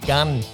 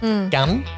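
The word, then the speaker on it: gánh: hanging off it yeah that's called a gun I hope I've got my tone right gun how do you spell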